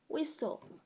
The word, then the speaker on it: whistle: instead yeah then thereafter we have words with t l where sound is silent for example I'm wrestling cattle wrestling rest uh wrestle whistle yeah that's whistle